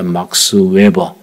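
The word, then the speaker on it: Max Weber: 독일의 사회학자 막스 웨버, 독일식 발음은 막스 베버입니다.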